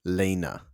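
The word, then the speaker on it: Lene: I think I want to say I want to say Lena.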